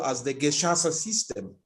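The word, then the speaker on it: Gacaca: they call as the Geshasa system. Geshasa is spelled as Gecaca, where the community sat down, the community created elaborate intentional structures that got to adjudicate over criminal issues.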